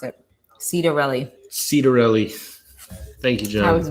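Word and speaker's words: Ciattarelli: assistant minority whip he's telling us how to pronounce it cedarelli cedarelli thank you that was way off cedar really thank you went to seton hall for his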